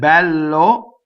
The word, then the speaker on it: bel: So the word bello is the long version of this word. Bel is open.